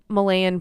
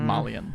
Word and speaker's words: Malian: and also every single Malayan person maybe that's maybe a pronunciation okay um um polynese I think it's Malian Malian person thank you yeah Molly